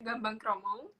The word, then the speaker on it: gambang kromong: Yeah, we have here gambang kromong. Oh. Gambang kromong. How to pronounce it?